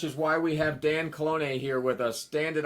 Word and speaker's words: Calonge: why we have Dan Colon here with us. Dan, did I get the pronouncing of your name right? Good enough. Okay. Very good. How How would I do it per perfectly? Dan Colon.